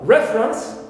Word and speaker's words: reference: Also, reference, we stress here, re, first syllable, although the verb is refer, second syllable in the original stem is stressed. But here we have a shift of stress to the first one, clear, because it's an